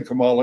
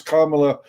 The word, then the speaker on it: Kamala: uh that you could you could never say kamala it's kamala uh and you're culturally insensitive